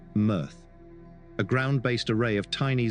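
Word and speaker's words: MEarth: He devoted much of his time since 2009 to the Earth project, pronounced "mirth", a ground-based array of tiny 0.4-m telescopes that look for transiting super-Earths or M dwarfs around nearby red dwarf stars.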